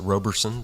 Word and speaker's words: Robertson: I pronounce it Roberson, but...